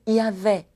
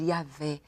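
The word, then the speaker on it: Yahweh: sábio inteligente Seu nome yavé yavé é uma pronúncia talvez mais perto do que seja e eu sou j h v h o tetragrama ou Y H w h o tetragrama impronunciável e nós podemos dizer yavé o nome do senhor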